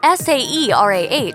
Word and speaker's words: Saerah: Saerah still sounds like Saerah, regardless of how it is spelled on the child's birth certificate.